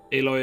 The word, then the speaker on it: Aloy: could use it or read it aloy is a metal yes but it's spelled differently isn't it i have one